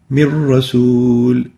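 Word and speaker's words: مِن رَّسُولٍ: When we merge them together, the noon, which is in gray here, won't be pronounced, and upon the merger, it will sound like min rasul.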